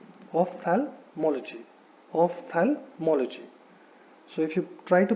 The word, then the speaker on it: ophthalmology: नाउ इट इज नॉट ऑफ्थैल्मोलॉजी, it is ophthalmology. So there is no thala, so it is ophthalmology. Ophthalmology.